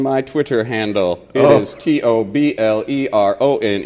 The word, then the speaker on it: Toblerone: ah I got it the ey is silent and also invisible hold the phone it's tobleron tire fire Shinobi I will